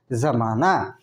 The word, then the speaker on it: ज़माना: तो ये ज उच्चारण नहीं हो कि ज होगा उसका ज़माना, ठीक है, ज होगा।